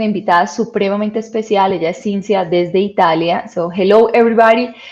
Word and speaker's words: Cinzia: Ella es Cinzia desde Italia.